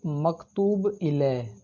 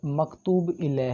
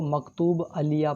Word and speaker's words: مکتوب الیہ: ہے مخاطب۔ تو دوستو مکتوب الیہ، یہ لفظ مکتوب الیہ ہے، کچھ طلبہ اس کو مکتوب علیہ پڑھتے ہیں جو کہ تلفظ کے لحاظ سے غلط ہے۔ یہ کیا لکھا ہوا ہے دوستو؟